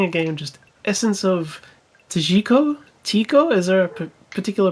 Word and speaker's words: Tjikko: we are playing a game just essence of tajiko tico is there a particular pronunciation of that it's like my name designed to be misspelled no chico it is the oldest tree on earth this